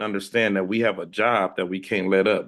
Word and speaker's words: Job: give people an example The Book of Job is spelled j o b we know it his job but if you get into the biblical world it's called job so it's our job